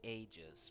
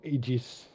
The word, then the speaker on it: Aegis: think about getting a I actually prefer saying ages but for some reason I got stuck with the American pronunciation yeah this is a